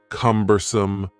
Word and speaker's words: cumbersome: The word cumbersome has 3 syllables, and the stress is on the first syllable, cumbersome, cumbersome. Something that is cumbersome is